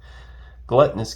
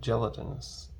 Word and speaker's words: gelatinous: all right yeah ghoul gluttonous cube in the regular there that's cool we've got i'll take it gluttonous gelat sorry gelatinous yeah gluttonous blood gelatinous cube been pronouncing it wrong this whole time all right contact